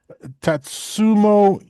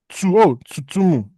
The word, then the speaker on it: Tsutomu: Tatsumo Yamaguchi. Tsutomu. Hang on. Tsutomu. There we go.